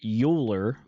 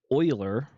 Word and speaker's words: Euler: after this person which you would think is euler but it's actually pronounced euler for some reason some person a long long